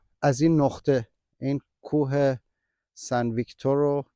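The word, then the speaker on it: Sainte-Victoire: این نقطه این کوه سن ویکتور یا همون سن ویک دوغ اینکه خیلی روش اصرار دارم چون خیلی طول کشی یاد گرفتم تلفظش اینو به حساب اینا رو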